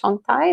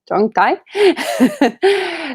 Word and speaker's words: Zhongtai: 20-something Vasa Bhikkhuni trained in one of the main lineages in Taiwan, Mahayana lineages, the Chongtai, that I mispronounced. Zhongtai lineage, and she has her meditation center and vihara in Berlin.